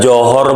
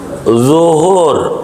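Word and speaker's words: ظهر: Kalau bacanya enggak bener, contoh kul a'uju, dia tanya udah johor belum? Johor, kata dia masih Singapura, gitu, belum nyebrang, johor, begitu. Zuhur, zo, bukan jim, dia johor, dia baca a'uju bila a'uju.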